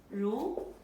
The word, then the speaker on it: 如: 如 second tone 如 as if as